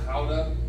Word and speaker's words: Gouda: Pronounced Gouda, and it's very effective for bringing them in, but not getting them out.